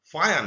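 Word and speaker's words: Fajans: ফায়ান, বিজ্ঞানী ফায়ান, এটাকে ফাজান অনেকে বলে, কিন্তু স্প্যানিশ ভাষায় বা ল্যাটিন ভাষায় এই যে যেটার একটু ইয়া টাইপের উচ্চারণ হয়, এটাকে ফায়ান রুল বলে।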